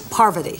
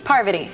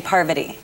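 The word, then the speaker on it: Parvati: many times good morning good morning poverty parvity so jeff got it wrong he was just saying it poverty party the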